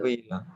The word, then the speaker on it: Luíla: Como é que pronuncia seu nome? É Luíla? Luíla, isso. Luíla.